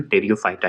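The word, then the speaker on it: Pteridophyta: से जाना जाता है, जिसे पी लगा के बोला जाता है, लेकिन उच्चारण टेरियोफाइटा ही होता है।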